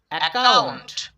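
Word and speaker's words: account: একাউন্ট। একাউন্ট। খেয়াল করো এখানে কিন্তু দুইটা সি পেয়েছিলাম। এখানে কিন্তু ক উচ্চারণ করিনি।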